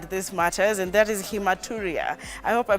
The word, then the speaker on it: hematuria: Today, what we had in mind is a topic by the name hematuria. You actually pronounced it very well.